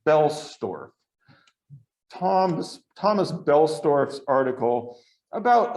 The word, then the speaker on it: Boellstorff: looked on his website he pronounced his name it's got that oh but he says don't say the o so it's belstorf tom's thomas belstorff's article